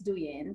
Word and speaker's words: Douyin: First would be pronounce this with me. Douyin.